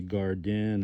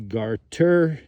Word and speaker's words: garter: you're most familiar with a lot of people say it wrong they say garden or they say guard dinner it's actually garter named after the garters